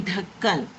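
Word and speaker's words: ڈھکن: How you will pronounce these two letters together? Dh, dh. Okay, dh. For example, when you say dhakkan, dhakkan means lid of something.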